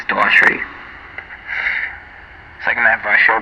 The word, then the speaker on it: Daughtry: Well, there's a G in there, so I guess it could be Dog Try, but I think it's Daughtry.